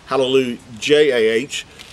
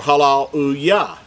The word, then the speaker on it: Hallelujah: Now, in our English translations, I think it's written as hallelujah, J-A-H, but we know everyone pronounces it hallelujah or halal-u-yah, not hallelujah, jah. That's not how we pronounce it.